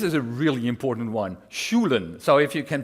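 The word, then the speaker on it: Sjoelen: This is a really important one, Schulen. So if you can pronounce that, you're all set.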